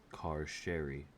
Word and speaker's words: Carcery: It's pronounced Car-Sherry, Dervish grunts.